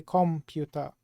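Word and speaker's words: コンピュータ: apply to Katakana is computa you don't say comput you say computa but there's the Japanese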